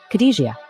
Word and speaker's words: Khadijah: It was Khadijah Branson, a name half the internet has been mispronouncing, and apparently all of New York hip-hop has been contractually obligated to pretend they never heard. Say it slow, Khadijah, because that is the